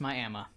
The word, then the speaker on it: Miami: No, it's pronounced Miami.